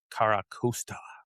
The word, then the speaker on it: Carracosta: Um then we we have the Tirtouga, and is it the Carracosta?